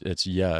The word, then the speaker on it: je: First of all, he said ja. It's not even pronounced ja. It's ja. It's J's like a Y, right?